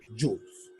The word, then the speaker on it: joule: Joule, que se lee joules.